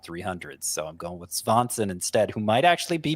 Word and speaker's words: Svanson: run or prospective closer run here with Matt Svanson. Spelled just like Swanson, but with a V instead of a W. It seems that is the actual pronunciation, Svanson.